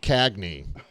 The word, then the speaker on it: Gagné: Eric Gagné. It's says, actually pronounced Cagney, like James. Oh. James Cagney. So it's Gagné. Okay.